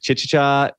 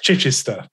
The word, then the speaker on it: Chichester: guest is mike maynard i'm going to mispronounce this mic chichicha england which is in the south of england correct me on that one is that is that off oh that's that's pretty good justin it's chichester chichester a very english